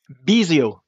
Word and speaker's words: Bisiot: How do you pronounce your surname? Bisiot. Bisiot. Yeah, but you did well. It was good. Okay. Bisiot.